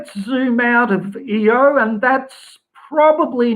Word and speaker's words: Io: we have a question about now is it EO yes is that how you say it eio